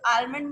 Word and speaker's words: almond: Yeah, but the correct pronunciation of that word is also not almond. So what's the correct one? The correct one is almond. That almond. Okay, not almond.